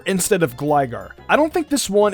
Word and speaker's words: Gligar: Gligar instead of Gligar.